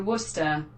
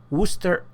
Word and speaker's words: Worcester: And it's kind of hard to pronounce, but I put the, Google Translate to help me with this one. Cruiser Worcester.